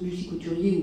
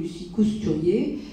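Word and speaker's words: Lucie Cousturier: travaux de Lucy couturier donc on prononce Lucy couturier ou Lucy cousturier donc qui était une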